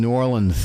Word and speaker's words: New Orleans: It's sort of run together. It's New Orleans.